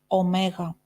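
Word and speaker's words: ωμέγα: means to bake and the last one is omega Omega we pronounce it again as o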